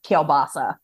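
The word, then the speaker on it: kielbasa: basically the same thing I love that you just said kabasi because you know that's just such a Pittsburgh thing because everybody else pronounces it keilbasa oh of course I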